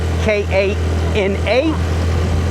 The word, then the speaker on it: Kana: The female version of me is a Kana, K-A-N-A. And it's pronounced Kano and Kana.